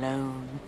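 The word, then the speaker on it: Lone: such a good name Tom loone rhymes with cone phone bone not that rhyming is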